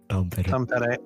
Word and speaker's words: Tampere: Seriously, like I'm looking at a photo right now of a farm in Finland that is literally in Tampere, like Tampere, or how do you pronounce? Tampere, yeah, like which is north of Helsinki.